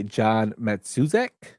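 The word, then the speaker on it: John Matuszak: It was played by John Matsuzek. I hope I pronounced his name correctly.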